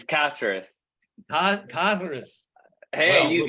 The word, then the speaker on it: Caceres: It's Caceres.